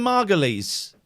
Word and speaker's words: Margolyes: I can't pronounce it. Is it Margot? Miriam Margolyes. Oh, Margot Lee.